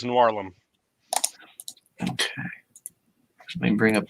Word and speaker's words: Noirlem: Yep, Noir plus Harlem is Noirlum.